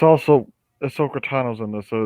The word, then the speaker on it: Ahsoka: a 2d asi asaniyuki why you keep saying asana you keep it's ahsoka the problem is that you are not pronouncing it distinctively enough to become confusing yes